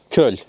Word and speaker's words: köl: Köl. Köl.